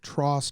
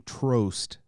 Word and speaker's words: Trost: for trost part five i found out that tross rhymes with frost i had been saying trost that rhymes with like prost or most and somebody informed me i was wrong it's like it's like frost only it's trust and they're still kind